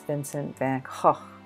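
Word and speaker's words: Vincent van Gogh: I found out that's not how you pronounce his name it's Vincent Van H except for I can't do that sound I really like their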